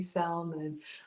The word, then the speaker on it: salmon: and began calling me Salmon. Oh my goodness, y'all are hilarious. Marie was said, has anyone asked ask the Salmon how he pronounces his own name? Almond says that L is silent, y'all.